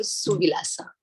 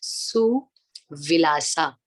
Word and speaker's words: सुविलासा: मैं धीरे धीरे जा रही हूँ ताकि आप वर्ड टू वर्ड पकड़ पाए मेरे प्रोनाउंसिएशन को। आपको भी ऐसे ही प्रोनाउंस करना है, सुविलासा, सुविलासा, सुविलासा, ठीक है।